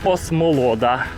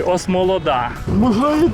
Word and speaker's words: Осмолода: розташована Осмолода і так на українській Вікіпедії осмолодас наголосом на о там позаду нас іде